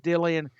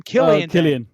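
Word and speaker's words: Killian Dain: there, and then Nikki Cross's real life husband, Dillian. What was his name? Boy, I'm saying it wrong. What was his name? Killian Dane.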